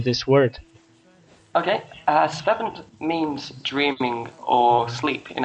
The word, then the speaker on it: Svefn: Okay, as far as I know, the F in English is pronounced like a B, so it should sound like Svefn, kind of like a silent B kind of thing. So it's Svefn, yeah.